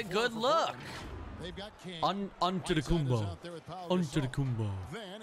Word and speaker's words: Antetokounmpo: So it's Antetokounmpo. But in the Greek way, you say with the NT, like Antetokounmpo. Antetokounmpo.